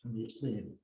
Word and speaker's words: Pleione: We call it the Pleione, but the correct pronunciation is Pleione.